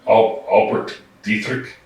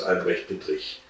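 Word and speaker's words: Albrecht Dittrich: Yeah, So you were born Albert Dietrich. Am I saying that correctly? close enough. Better than most. Okay, I'll take it. This is a hard name to pronounce for Americans. It's Albrecht Dietrich.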